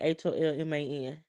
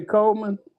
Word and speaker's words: Holman: HOLMAN. Anthony Coleman? Holman with an H.